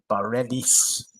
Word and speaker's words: Bareilles: 44 today is Sarah, and I've got to pronounce this right, Bareilles.